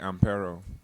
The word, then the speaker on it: Ampero: How is the right way to pronounce DJ? It's DJ AMPERO.